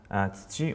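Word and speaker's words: 土: But I don't, so here we are. That's it, gold. Also for kinyobi for Friday. So on to the next one. Let's do it. Okay, next we have tsuchi or do, as in doyobi.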